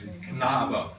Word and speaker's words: Knabe: It's Knabe. Correct. There are no silent letters in German.